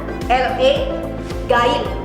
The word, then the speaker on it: Legain: Contoh yang kedua, saya memiliki produk lainnya, yaitu produk serum yang namanya Legain. Tulisannya LE Gain, tapi bacanya adalah Legain.